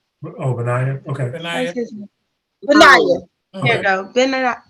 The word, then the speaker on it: Benaiah: Benaiah. I've never not speak nobody's name. Oh, Benaiah. Okay. Benaiah.